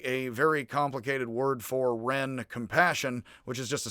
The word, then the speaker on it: ren: bit but reciprocity compassion love is something like ren it was spelled actually confusingly in the old wade guiles j-e-n and pronounce it like an r y and now